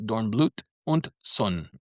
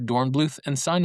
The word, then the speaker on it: Dornblüth & Sohn: b l u t h, and it's actually pronounced Dornblüth und Sohn. Most people say Dornblüth & Sohn, and that's how we're going to say it for for me, because, you know, it's it's my podcast.